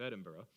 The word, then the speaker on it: Edinburgh: of Texas at the University of Edinburgh that's how they say it in Scotland the University of Edinburgh in Scotland and I